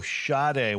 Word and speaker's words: Sade: Sade.